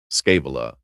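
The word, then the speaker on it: Scaevola: Um, but this this is the story of gas mucus scavola. Scavala. Um, depends on how you want to pronounce it.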